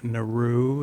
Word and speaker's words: Naru: I mean, Naru, is that how they pronounce her It's name? Naru.